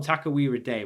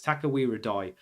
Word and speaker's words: Takawira Doi: I keep wanting to call him Takawira Day, but it's Takawira Doi.